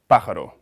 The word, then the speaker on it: pájaro: like in the word pájaro, which means bird, with stress in the first syllable, and ballena, which means whale, with stress in the second syllable.